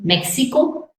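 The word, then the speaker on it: México: uh for for example Mexico it can be like English H me Meo Y is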